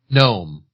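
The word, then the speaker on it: Noem: And then for Corona Light, we're going to use uh the Governor uh what you say, how do you pronounce her last name? Gnome.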